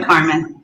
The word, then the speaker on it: CARM.N: How does the pronunciation? I'm going to make sure we get that Carmen. Right. Simply Carmen.